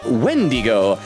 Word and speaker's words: Wendigo: Vendigo says also yes, it's technically pronounced Wendigo, but you can pronounce it with a V.